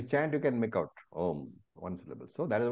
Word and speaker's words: Om: makes it o and m is when you close your mouth so om only one syllable when you chant you can make out om one sy so that